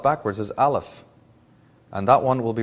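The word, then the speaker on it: אלף: of the Hebrew alphabet they pronounce their letter A Alf and it means breath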